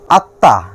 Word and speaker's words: আত্মা: আত্মা, আত্মা শব্দে মফলা দ্বিতীয় বর্ণ তয়ের সঙ্গে বসছে এবং এর ফলে তয়ের উচ্চারণ হবে দুইবার।